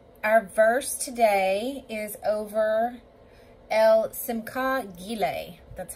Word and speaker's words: El Simchah: over so um our verse today is over el simco that's how you pronounce this particular name of god and i